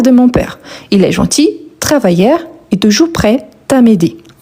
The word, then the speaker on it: gentil: Est gentil. On ne prononce pas le L quand on s'exprime à l'oral.